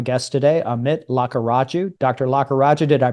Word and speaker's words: Lakkaraju: Lakaraja, did I pronounce that correctly?